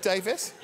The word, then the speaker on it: Davies: So what rhymes with Davies? Gravis.